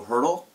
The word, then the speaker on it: Haertl: it for me please my name is hurdle and I spell it b h a r t l okay